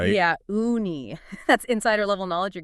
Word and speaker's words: uni: That's pronounced uni, right? Yeah. Ooni.